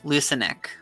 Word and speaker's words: Lucanic: I'm guessing it's Lucanic. Alright, I'm good. Ow! Son of... Okay, I hit my head on my table. It's all good. Ow, okay. Soft C. It's a soft C. Lucanic.